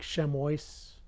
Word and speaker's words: chamois: Chamois is spelled something like chamois. I think it's a French word. It's pronounced chamois.